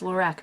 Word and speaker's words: Lorac: I assume it's pronounced Lorac because it's just Carol backwards, because the owner or creator or whatever is Carol. It's not a fancy French name.